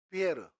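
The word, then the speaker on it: Pierre: 있을 거 아니에요 피터 피터가 영어식 발음이며 프랑스 발음으로는 피에르 피에라 이름 되게 많이 나옵니다 여러분 프랑스 이렇게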